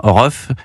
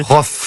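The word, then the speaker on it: Rohff: C'est qu'ils sont allés au concert de Ruff, qui est comorien, puis francin, Ruff. Je prononce sans doute très mal. Rof. Voilà, Rof, merci.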